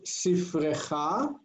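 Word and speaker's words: סִפְרֵךְ: And what is Sifrecha? Your book. Your book, speaking to a male or a boy. Sifrech. Notice that closed syllable? Sifrech.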